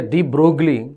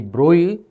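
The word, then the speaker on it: de Broglie: So what I want to say droy theory you say d brogley but actual pronunciation is going to be droi and droy theory is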